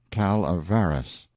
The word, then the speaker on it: Calaveras: notorious Jumping Frog of Calaveras County pronounced calavaras in compliance with the